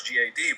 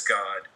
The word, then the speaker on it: Gad: it comes into English they spell it out as Gad but they pronounce it as God not Gad but uh and they